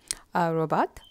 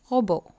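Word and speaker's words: robot: Next வந்து ரோபோ, ரோபாட், அதை ஃப்ரெஞ்சில் நீங்கள் ரோபோ தான் சொல்லணும், டீயை இக்னோர் பண்ணி வந்து ரோபோ.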